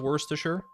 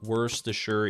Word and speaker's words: Worcestershire: I would co-sign that there are different Regional pronunciations of Worcestershire there were but worse the sure is the most common around here what are the other ones I can't even think don't tell me Worcester Shire is one that hurts me that hurts me to say that even though it's the way I used to think it was pronounced